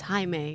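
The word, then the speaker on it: Jaime: well for him now you might think that this man pronounces his name Jamie but when I went up to him to ask him about his last attempt songs he said his name was haime so make sure you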